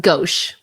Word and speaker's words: gauche: Okay, I will say I also never heard that word before, but it's pronounced gauche.